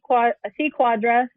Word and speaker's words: Cuadra: So me, C Cuadra, Cuadra. I know that's hard to pronounce for some folks because it looks crazy because it has a C, but it sounds like a Q.